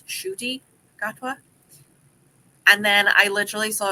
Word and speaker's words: Ncuti Gatwa: say his name and he had said it's shoy gatwa and then I literally